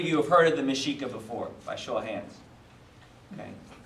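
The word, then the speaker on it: Mexica: three people right shocking um so um mishika um the mishika were the indigenous people of the northern region of what you would now know as as Mexico okay or Mexico and uh mesika is spelled me X I ca okay and this is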